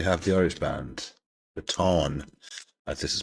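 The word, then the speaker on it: Táin: A lot of people pronounce this wrong. They say the Tain. It's not. Just as I'm Irish, so I know how to pronounce it. It's the fada is in there. T-A fada. I-N, so you call it the Tawn by the Horslips.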